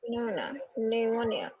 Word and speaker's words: pneumonia: जब पीएन आता है, सुनिए मेरी बात, जब पीएन आता है तो पी साइलेंट हो जाता है, उसमें एन रह जाता है।